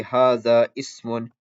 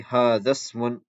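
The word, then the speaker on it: هذا اسم: letter is hamzatul wasl, you do not pronounce this hamza. So you don't say hadha ismun, you don't say hadha ismun, you say hadhasmun, hadhasmun.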